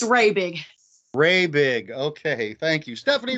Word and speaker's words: Rabig: And I forgot I was meant to ask how to pronounce your last name. It's Stephanie. It's Rabig.